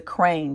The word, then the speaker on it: Craene: This is the Crane, but it's spelled Craene.